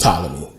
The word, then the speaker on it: Ptolemy: say pathology is just a thing but it's pronounced Ptolemy but um they got a to war and